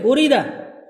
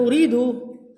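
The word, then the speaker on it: أُرِيدَ: Karena uridunya bukan uridu urida. Urida. Oh maju bukan aroda yuridu ya. Ini uridau. Uida tadi tadi bacanya apa? Urida kan urida.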